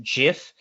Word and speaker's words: GIF: better image format and then there's gif uh some also pronounce it jif these are commonly used